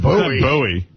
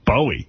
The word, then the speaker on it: Bowie: It ain't buoy. It's Bowie. Yeah, it ain't Bowie.